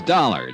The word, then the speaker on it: Dollar: It's dollar. Dollar. Dollar. Huh? It rhymes with color.